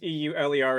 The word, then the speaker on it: Euler: These are your Euler angles, and yes, e u l e r is pronounced Euler.